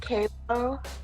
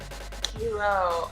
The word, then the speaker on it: Kilo: Kalo? How do you pronounce? Am I saying that right? Kilo Insane. Kilo. Okay.